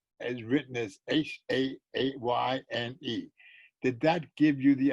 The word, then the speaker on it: Shayne: It was always Shayne, pronounced Shayne.